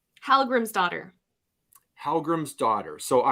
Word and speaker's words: Dottir: It is pronounced like daughter. It means daughter, but it's spelled Dottir, that last portion of it.